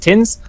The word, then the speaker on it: TXNZ: much, Noob from AU, that TXNZ is actually pronounced Tins. I guess that makes sense, right? A lot of people like putting X's in their names to be cool, but Tins it is.